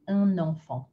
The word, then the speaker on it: un enfant: If you see the words un and enfant, a child, we're going to take that N and add it in. So you're pronouncing something extra, because usually you just say un with no N. But when we want to do the liaison effect, we do un enfant.